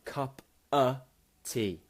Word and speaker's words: cup of tea: This schwa sound, cup-a tea. Cup-a tea, okay?